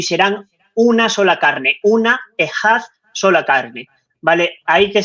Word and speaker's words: echad: En hebreo, la palabra que es único es ejad, ¿vale? Sí, Esa que se palabra, escribe chat, me parece. exacto, significa uno o único, se escribe echad, E-C-H-A-D, pero se pronuncia ejad, ¿vale?